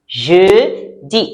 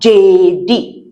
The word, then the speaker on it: jeudi: Next one is jeudi. Jeudi. Jeudi. Right. Je. And E before the D. Jeudi. It's not J-D. Please, please, please don't say J-D. You make me sad. It's jeudi. Très bien.